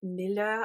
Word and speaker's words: milieu: We also have it where we are part of the galactic milieu. I keep saying it wrong and people keep having a go at me in videos. I'm really sorry. Milieu.